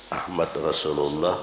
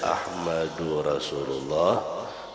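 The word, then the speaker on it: أحمدُ رسولُ الله: Jangan salah barisnya, Ahmad Rasulullah Muhammad Rasulullah, salah. Pokoknya bacanya Ahmadur Rasulullah Muhammadur Rasulullah 35 kali, jangan kurang, jangan lebih.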